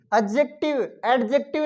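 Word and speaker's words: adjective: एडजेक्टिव नहीं, क्या बोलना है इसको? एडजेक्टिव। डी इसमें साइलेंट।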